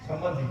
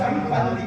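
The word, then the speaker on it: சம்பந்தி: சம்மந்தின்னு சோறு விட்டு போறாங்க சம்மந்தினா உச்சரிப்பு தப்பு சம்னா நல்ல பந்தினா உறவுன்னு சொல்லணும் ஆனா சம்னா நல்ல மந்தினா குரங்கு வாங்க நல்ல குரங்குறான் அவரும் ஆமா குரங்கு அவர் கூப்பிடுறாரு என்ன சொல்லணும் சம் பந்தி தானா இருக்கணும் பந்தம்னா உறவு ஞான சம்பந்தர்ன்னு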